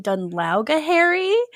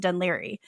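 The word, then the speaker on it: Dún Laoghaire: whatever and she's like, "Uh, I'm staying in Dunla." And like 100% she's just trying to figure out how to pronounce it. And he laughs at her and he's like, "Actually, it's pronounced Dunli."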